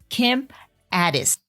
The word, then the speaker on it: Ades: introducing a very special guest to the show kim addis hello hello i'm thrilled to be here and i'm thrilled that you pronounce my name so perfectly awesome kim is